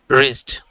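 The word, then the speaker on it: wrist: 3 number W পরে আর, এখানে ডাব্লিউ এর উচ্চারণ হবে না, এর উচ্চারণটা হবে এভাবে রিস্ট, মানে হচ্ছে কবজি।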